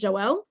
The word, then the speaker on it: Joelle: i forgot um so my name's joelle so that's the correct way to pronounce it or you can call